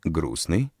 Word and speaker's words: грустный: обозначается с помощью букв например в слове грустный не произносится звук между с и на хотя на письме между буквами сын пишется буква т слове сердца не произносится